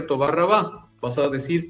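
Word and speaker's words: תודה רבה: Entonces, por eso es que la R y algunas otras letras las pronuncian de una forma gutural. Para decir muchas gracias en hebreo se dice Toba Rabá, si hablas un hebreo típico, clásico.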